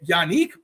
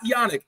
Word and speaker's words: Yannick: Yannick, by the way, not Yannick. Yannick. Okay. Yeah, Yannick. I went to the pronunciation guide. I had to make sure.